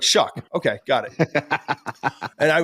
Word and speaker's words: Shough: to pronounce it I it was like show Tyler show right you're like shuck okay got it and